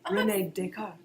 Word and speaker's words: René Descartes: René Descartes.